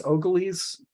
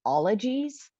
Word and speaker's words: ologies: Samantha, do you pronounce this Ogillies? I recommend Ogillies to my students. I don't know about this. It's actually pronounced ologies.